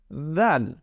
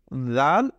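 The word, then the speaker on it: ذال: জাল হরফটি কি জাল আমরা সেই সা যখন উচ্চারণ করেছিলাম সেই সা এর উচ্চারণ আর এই জালের উচ্চারণ কিন্তু ঠিক একই জায়গা থেকে উচ্চারিত হবে অর্থাৎ আমাদের জিওভার আগা এবং উপরের দাঁতের আগার সাথে লাগিয়ে এই জাল উচ্চারিত হবে কি হবে তাহলে জাল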